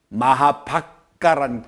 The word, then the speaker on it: 마하박가: 하는 학자가 최봉수 역 마하박가 책이 있어요 최봉수 선생이 마하 와카라 안 그러고 옛날 발음대로 마하박가 마하박가 이름으로 번역해 놨습니다